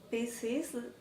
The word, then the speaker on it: pieces: Because everything that ends in S in the plural or third person singular, Double S, pieces. Extra syllable. Extra syllable.